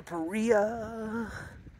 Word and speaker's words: Paria: Taking a dip in the Paria, it rhymes with Maria.